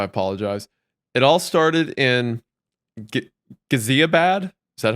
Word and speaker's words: Ghaziabad: It all started in Ghaziabad. Is that how that's pronounced?